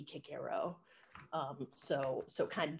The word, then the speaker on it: Cicero: said i i misprint i mispronounced cicero but everybody knows what i mean when i say cicero but it should be kick arrow um so so kind